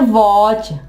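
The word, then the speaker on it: watch: वॉच हमने टी यहां पे नहीं पढ़ा। वॉच नहीं कहा हमने। हमने क्या कहना है? वॉच।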